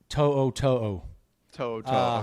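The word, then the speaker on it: To'oto'o: How is it pronounced? To'o. To'o.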